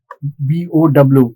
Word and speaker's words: bow: You can say a bend, B-O-W. It actually rhymes with how.